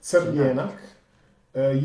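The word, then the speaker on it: Crljenak: It's called Kribedrag or Sirjenik. Am I pronouncing it right? Sirjenik.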